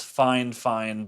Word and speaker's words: FIFINE: fi fine fine fine not quite sure how to pronounce the brand name i am told that it is fine fine but that doesn't really look like it should read that way anyways it's a desktop